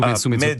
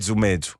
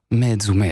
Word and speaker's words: Mezu: Et comment on le prononce bien? Mita-mita, c'est comme ça en fait. Korsu Metsu. Medzu. Medzu. Voilà, là c'est parfait.